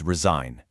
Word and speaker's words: resign: The G is silent, but it's not useless.